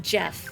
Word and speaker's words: Geff: I encountered someone who spelled their name g e f right a gef I mean they pronounced it Jeff but I I never